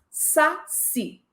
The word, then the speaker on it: saci: Saci. A palavra saci tem acento tônico na última sílaba, mas não tem acento gráfico.